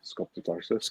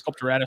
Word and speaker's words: sculpturatus: Sculptotarsus. Sculpturatus.